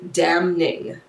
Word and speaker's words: damning: the evidence was very damning. Damning. She pronounced the N in damning, which for a second had me questioning, have I been pronouncing it wrong the whole time?